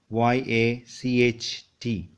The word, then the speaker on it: yacht: Look at the spelling, Y-A-C-H-T, yacht.